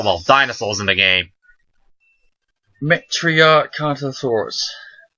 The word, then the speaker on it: Metriacanthosaurus: Metriacanthosaurus. Not Canthosaurus. Metriacanthosaurus.